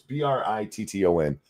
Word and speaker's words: Britton: Is that how you say it? It's Britton.